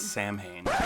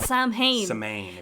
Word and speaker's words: Samhain: celtic festival of samhain that's samhain not sam haynes i watched this video